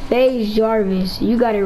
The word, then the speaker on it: FaZe Jarvis: It's FaZe Jarvis.